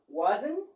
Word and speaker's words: wasn't: The final T, the final T sound in a contracted verb is a silent letter.